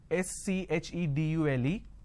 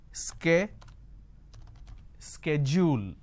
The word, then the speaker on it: schedule: and american pronunciation is sk schedule and this is a fact lot of people don't understand so the british pronunciation is schedule the american pronunciation is schedule now in india what